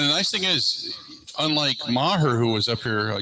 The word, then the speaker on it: Maher: At least that's it's Brett Maher. That's how you pronounce it, Maher. Maher, yeah, that's at least the report is that no longer with the company.